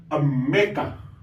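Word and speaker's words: עַמְּךָ: ella hay una chev esa ch se va a pronunciar Como por ejemplo aquí la mem tiene el puntico medio es decir tiene la Forte y debajo de ella está la cheva por lo tanto se va a leer se va a pronunciar nuestra vocal tipo e esta palabra se leería am meca am meca y se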